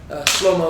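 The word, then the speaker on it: שלמה: of King King Solomon slo-mo is how you pronounce his name in Hebrew that being said there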